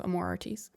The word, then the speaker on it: Amor Artis: so I would go with a French pronunciation of Amor Artis, Yes.